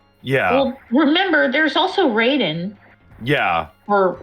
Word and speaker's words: Raiden: originally spelled Raiden Rayden, and I think they continued to pronounce it Raiden all those years later.